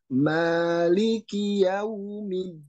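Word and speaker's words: مَالِكِ: kalau Nah itu berarti Maliki jangan ditutup jadi jangan ini tidak dibenarkan tidak boleh menutup mulut langsung ya Jadi Maliki biarkan terbuka terlebih dahulu kemudian ini sholat kita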